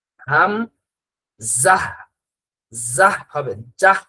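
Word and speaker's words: همزة: এরপরে হামজার উচ্চারণটা হাম জাহ।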